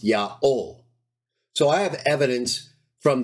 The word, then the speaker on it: Yaho: Even Jerome, writing in the fourth century, says that the divine name, the Tetragrammaton, is to be pronounced Yaho.